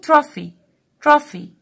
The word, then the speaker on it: trophy: number two, trophy. take care ان هنا ال ph pronounced ف ف, trophy معنى كاس.